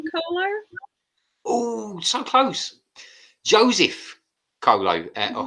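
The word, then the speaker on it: Coelho: attempt uh julian kohler oh so close joseph colo or how however it's pronounced c-o-e-l-h-o again i i had a question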